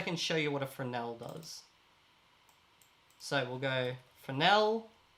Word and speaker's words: Fresnel: a fresh as a fresnel fresnel fresnel i always mispronounce it it's this node here for fresnel i always pronounce the s i shouldn't okay we're going to